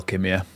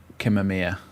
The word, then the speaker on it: Kimia: Kima. Kimia. Sorry, I think I said your name wrong the first time.